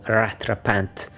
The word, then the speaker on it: rattrapante: of a Navitimer with a rattrapante, or rattrapante, if you want to pronounce it the French way.